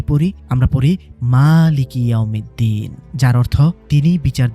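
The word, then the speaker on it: مالكِ: এই খাড়া জবরের কারণে শব্দটা হয়ে গেছে মালিকি। মিমের উচ্চারণটা একটু টেনে পড়তে হয়, আর এর অর্থ হলো মালিক বা স্বত্বাধিকারী, ইংরেজিতে যাকে বলে ওনার।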